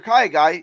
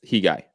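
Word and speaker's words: Khegai: And if you're Kaigai, you have to impose your... By the way, Santiago is correcting us. The K is silent. It's Hi Guy. Or He Guy. Probably going to He Guy.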